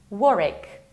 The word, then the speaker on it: Warwick: It's not Warwick, it's not Warwick, it's Warwick. Warwick, you have to skip middle W.